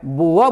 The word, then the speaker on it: boor: BOOR नहीं बोलना है, बुआ बोलना है।